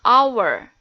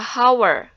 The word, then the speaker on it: hour: Nah, kalian perhatikan pada kata hour, ya, di situ hurufnya H atau H, tetapi dibacanya hour, tidak dibaca hour.